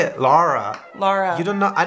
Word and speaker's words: Laura: like Lara Lara yeah people will say that the vowel wrong it'll be like Laura Lara Lara so it's lava yeah Laura hoga haa Lola I like that one the AU is an O sound it sounds like it's loud like you la la now